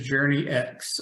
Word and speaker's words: Journyx: to be clear what everybody usually says is Journey X all right and so it's a natural pronunciation of our company name which is journals